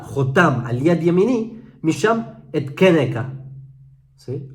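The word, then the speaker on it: אתקנך: O sea, Chai ani neum Hashem ki im ye Jonia ben Yehoyakim melech Yehuda jotam al yad yemini misham etkeneka. ¿Sí? Aunque hay quienes pronuncian etkenka.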